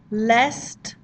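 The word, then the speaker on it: l'est: exactly the same and it's really important that you do pronounce the t here that you don't pronounce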